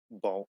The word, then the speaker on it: Balltze: That lasted for like what, like 2 months, and now I'm on my permanent name, which is Balt, but it's supposed to be pronounced like, like Budgie.